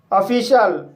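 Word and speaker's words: official: है विशेष खास ऑफिशल इस वर्ड में ओ को आ पढ़ेंगे डबल एफ को फा पढ़ेंगे आई को ई पढ़ेंगे और सी को श पढ़ पढ़ेंगे आई ए साइलेंट रहेगा एल को ला पढ़ेंगे इस तरह से से ऑफिशल पढ़ेंगे ऑफिशल मींस होता है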